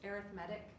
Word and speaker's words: arithmetic: It looks like the word arithmetic, pronounced arithmetic.